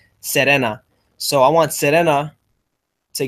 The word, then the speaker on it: Serena: It's Serena, but with the Spanish pronunciation, so it's pronounced Serena.